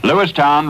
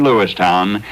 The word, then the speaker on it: Lewistown: dairy farming chickens grain Lewistown remember to pronounce it town as grad shedding its